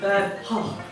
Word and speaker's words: Van Gogh: And Vincent van Gogh, and I once asked a Dutch person, how do you pronounce that? And they said Van Gogh.